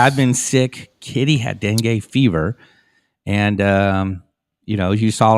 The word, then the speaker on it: dengue: first then gay fever Dengue no you said it correct I said it right